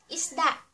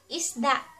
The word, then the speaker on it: isda: So ----- let's do some pronunciation review. Let's start! For our first word, we have fish, or sa Tagalog ay isda. isda is da isda At next, kahit na, or even though.